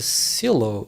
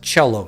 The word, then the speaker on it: cello: a strange man it's it's pronounced cello isn't it welcome back boss yeah